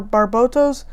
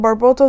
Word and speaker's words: Barbatos: the ironblood orphans series i pronounce it barboto so you pronounce it differently sorry about that but